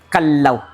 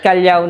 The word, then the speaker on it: Kalaw: Pero yung pero yung proper correct pronunciation po nito, much better to pronounce it kallaw. Ah kallaw. Kallaw. Yes. Not kalyaw. Not kalaw. It's kallaw po.